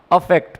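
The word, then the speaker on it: affect: दोनों का प्रोनाउंसिएशन भी थोड़ा सा डिफरेंट है। जो ई से स्टार्ट हो रहा है उसे आप इफेक्ट पढ़ेंगे, और जो ए से स्टार्ट हो रहा है उसको आप अफेक्ट पढ़ेंगे।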